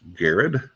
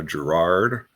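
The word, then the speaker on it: Garrard: It is pronounced Gared, not uh, Gerard or or Gerard as it may look to be spelled.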